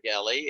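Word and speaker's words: Geli: if you're looking for kelly it's g-e-l-i she always says it's like kelly with a hard g uh and uh that's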